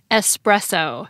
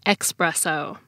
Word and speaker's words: espresso: And the big language thing to note is that it's pronounced espresso, not expresso.